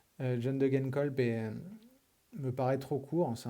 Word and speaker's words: Degenkolb: Idem pour la team DSM, Søren Kragh Andersen n'est pas présent, John Degenkolb, pardon, faut pas que je le prononce à l'anglaise, John Degenkolb me paraît trop court,